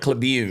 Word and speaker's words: Cleveland: spelled Miami it's CL it's spelled curn but they call it cun cun yes uh you